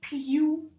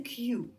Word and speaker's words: queue: So it's you, okay? And these two sounds are silent. So basically you say Q, that's all.